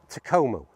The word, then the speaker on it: Takomo: Okay, so this brand is Takomo. That's how I'm going to pronounce it, at least anyway.